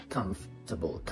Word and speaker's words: comfortable: النيتيف سبيكر بينطقوا الار كانها مش موجوده. comfortable. حتى التشديد على المقطع الاولاني comfortable comfortable بمعنى مريح او شيء comfortable احس فيه براحه.